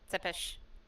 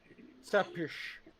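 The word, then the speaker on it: Țepeș: Because I know that you said it was a TS sound, and then it went to almost a Y sound after. So it's just Tsepis? Tsepish.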